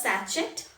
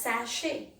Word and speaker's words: sachet: it is pronounced as sashi it is not pronounced as sachet it is not pronounced as sakit it is pronounced as sashay so people get confused